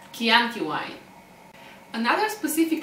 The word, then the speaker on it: Chianti: is she a cure it is pronounced as key like chianti why another specific letter